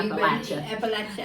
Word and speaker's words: Appalachia: they pronounce it is Appala, the way you Appalachia. kind of like I've got an apple here and I'm going to throw an apple at you.